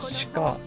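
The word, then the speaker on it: 鹿: It looks like the thing I sent, which is like 落ちてた it is spelled shika in English.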